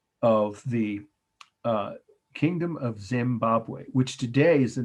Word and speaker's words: Zimbabwe: to be cone-shaped c-o-n-i-c-a-l conical tower at great zimbabwe and that's the word great of course second